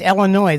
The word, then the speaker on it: Illinois: It's Illinois. That S is silent.